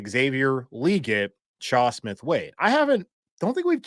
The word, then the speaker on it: Legette: They're like, it's Legette.